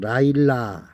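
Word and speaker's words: לילה: 밤은 히브리어로 라일라. 라일라라고 읽습니다.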